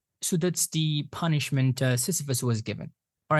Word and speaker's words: Sisyphus: The pronunciation of this character is Sisyphus, right? Not Sisyphus. Sisyphus, because the stress falls on the first syllable.